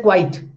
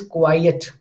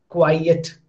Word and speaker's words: quiet: Now when I say quiet, so some people say quite. That is a wrong pronunciation actually, quite, because it is a bisyllabic word and you are making it monosyllabic.